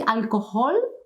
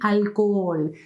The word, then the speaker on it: alcohol: alcohol please remember these when you see a word with an age any word and with a matching any position try to think that there is nothing there I'll call but nothing please don't produce any sound okay I will call